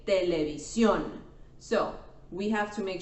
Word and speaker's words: televisión: And we don't say televisión, we say televisión.